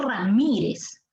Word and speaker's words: Ramírez: a mi apellido es ramírez rami eres la fuerza de voz está en la sílaba y es palabra grave que termina en zeta y se debe tildar sí es decir la